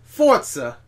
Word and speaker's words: Forza: Forza. Do this. There's no T in there. You have to do the hand thing like Italians do.